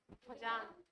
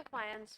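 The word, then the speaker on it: Fajans: कह रहे थे, हाँ फजान, फजान नहीं बोलते, फायंस बोलते, ठीक है। हाँ लिखेंगे फजान, बोलेंगे क्या, फायंस। जे साइलेंट है, जे साइलेंट है जी।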